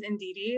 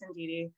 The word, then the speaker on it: Indeedy: and indeedy hello everyone my name is indeedy like yes indeedy um in case anybody was wondering how to pronounce it I am currently lead